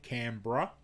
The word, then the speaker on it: Canberra: brisbane sydney is sydney canberra is canberra but we say canberra we just for some reason most of us we cut out the e and we say canberra and melbourne is melbourne